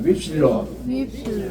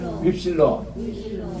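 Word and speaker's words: ύψιλον: 윕실론이라고 발음해요. 따라합시다. 윕실론. 윕실론.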